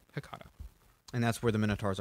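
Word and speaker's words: H'Catha: It's Hecata. It's H apostrophe C-A-T-H-A. Hecata.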